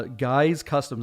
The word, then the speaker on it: GYX Customs: that doesn't help it's gyx underscore customs uh guys customs that's how you pronounce it guys customs uh on instagram go ahead and dm the